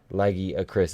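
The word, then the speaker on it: Lagiacrus: Lagia Acris is how it's pronounced.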